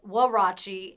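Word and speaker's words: huarache: And when you look up the pronunciation, it says Warachi, and the reason is because it's mimicked after a Mexican sandal.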